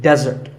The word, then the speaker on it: desert: a meal and it should not be confused with desert here the stress is on the first syllable which is dead desert